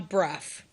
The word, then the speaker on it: Brough: it rhymes with Huff, Brufton. The residents changed the town's name from Brufton, named after John Bruff, a man who would